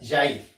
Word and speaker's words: Jair: Jair me dice que se pronuncia Jair.